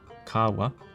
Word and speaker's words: kawa: The letter A has three sounds. First, the slender, as in cab. Example Kapiti. Second, the broader, as in rather. Example kawa.